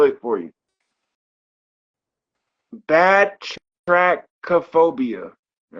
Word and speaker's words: batrachophobia: I'm gonna say it 2 times and then I'll spell it for you. Batrachophobia.